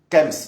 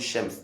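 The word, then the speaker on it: chems: Kems ou Shems, comme vous voulez. Mais ça s'écrit avec CH. Bon, nous en France on dit Shems, d'autres disent Kems, donc après.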